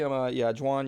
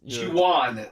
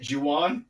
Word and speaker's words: Juan: Again, I'm not going to reveal too much about what it is, but basically, Juan, you didn't really tell us. Juwan. That's how you say it, Juwan.